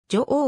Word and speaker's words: 女王: ため伝統的な読み方である女王を採用していると nhk ホー